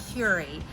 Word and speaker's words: Kure: It's Terry again, and we are at Kure Beach, pronounced Curie.